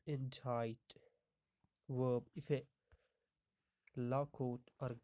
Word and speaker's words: indict: in tight a ndic it is pronounced as injight verb effect law code